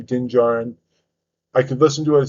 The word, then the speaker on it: Din Djarin: the desert, and then she eventually runs into Din Djarin, as everyone knows, is the Mandalorian, who's also part of the Book of Boba Fett series.